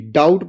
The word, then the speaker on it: doubt: किसी भी वर्ड में टी से पहले बी आया हो तो बी क्या रहता है? प्राय साइलेंट रहता है। आपको ध्यान रखना। जैसे DOUVT डाउट पढ़ेंगे, डाउट नहीं पढ़ेंगे।